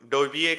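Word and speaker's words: Довбик: है मेरे ख्याल से उसका नाम, अगर मैं प्रोनाउंस सही कर रहा हूँ बस। हाँ, डोइक। डो डोविएक है ये, आर्टेम डोविएक, यूक्रेनियन प्लेयर।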